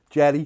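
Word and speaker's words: Yerry: Jim Thompson says, do you realise that the correct pronunciation of Yeri is in fact Yeri? Yeah. Jerry, Colombian geezer told me, fair enough, well, I'm not bothered, I just got to mean it.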